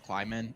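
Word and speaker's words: Klieman: thought kansas state with chris clark i think it's climbing is how you pronounce last name yeah and then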